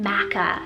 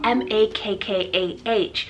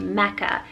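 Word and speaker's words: Makkah: i have the name makka spell m-a-k-k-a-h now makka is actually another pronunciation for the holy city in saudi arabia named mecca m-e-c-c-a which is more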